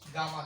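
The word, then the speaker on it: gamma: Will be termed as गामा carbon. बाज़ औक़ात इसको गेमा कहते हैं और बाज़ लोग इसको गामा कहते हैं, ये प्रोनाउंसिएशन है, आपके ऊपर डिपेंड करे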